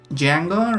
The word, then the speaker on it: Django: And yeah, let's call ourselves Django, right? The D is silent and also non-existent in this case.